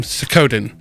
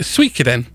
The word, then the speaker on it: Suikoden: So, little backstory: this game was originally made by the guy who created the game Suikoden, or if you're American, some people pronounce it Suikoden.